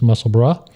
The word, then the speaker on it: Musselburgh: Uh but the br u r g is pronounced bruh. So it's muscle brah.